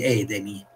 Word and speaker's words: edemi: queste gambe gonfie questi edemi in greco dove ci mette l'accento sulla terzultima Ed Emi in latino doveva avere al centro della penultima Questa è una chicca